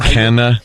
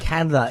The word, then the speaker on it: Canada: Canna. What? Canna. Canada. Instead of Canada, he says Canna.